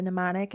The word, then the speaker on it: mnemonic: the first one is the mnemonic uh the m is silent so it's a mnemonic and that just indicates